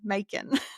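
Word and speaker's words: Macon: And I was like, "It's Bacon but with an M." Because she was like m like she just didn't know, you know? And I was like, "Bacon but with an M." Min.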